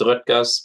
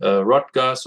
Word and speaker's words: Röttgers: all hear, is a German name. Uh, you can tell it from the umlaut, the Ö, so it's Röttgers, but I've heard people calling me Röttgers or Rogers or whichever way you prefer to pronounce it.